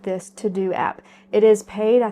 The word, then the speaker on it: TeuxDeux: I don't necessarily want to do. So one of the digital assets that has really benefited me is an app called the To-Do app. It's spelled Teuxdeux.